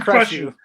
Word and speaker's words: Krychiw: We live tonight with Jason Krychiw. How do you Krychiw. pronounce it again? It's Jason Krychiw.